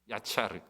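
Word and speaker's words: יָצַר: 조성하다는 말인데이 말은 히브리 말로 야차르라고 발음합니다. 야차르.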